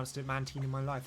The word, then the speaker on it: Mantine: goodbye mantin that sounds weird no you were pronouncing it correctly Mantine I'm going to keep pronouncing it Mantine I